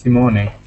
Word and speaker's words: Simone: No, it's correct. It's Simone. Okay, perfect.